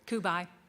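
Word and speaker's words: Cubaj: Kubai, Kubai, yeah.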